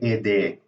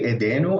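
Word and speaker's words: ايديه: So it's the H there is not really pronounced as an H, but it's the way you know it's there is because you have that long A sound. So eden, ede, and you lose the noon. You can say edenu. I think I've seen that, but this is better. This is definitely better.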